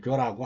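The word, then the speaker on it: 覺: 세계까지 없더라 교훈하고 발언합니다 각 후라고 발음하면 틀리죠 꿈을 깨달을 때는 교라고 합니다 꿈 속에서야 그야말로 모든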